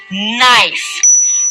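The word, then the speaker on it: knife: সো আরেকটা example দেখেন, নাইফ। Give me আ নাইফ। নাইফের কেটা কিন্তু সাইলেন্ট, রাইট?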